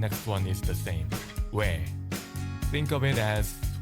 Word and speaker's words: ㅞ: "ㅞ". Think of it as "ㅞ"= ㅜ plus ㅔ. Pronounce it as one syllable.